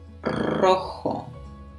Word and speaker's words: rojo: Rojo. So this one starts with that strong R.